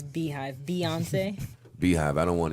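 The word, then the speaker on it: Beyhive: Why did you say Bayhive, by the way? That's how it's spelled. It's Beehive.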